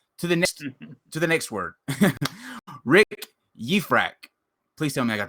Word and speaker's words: Yifrach: Rick Yifrach.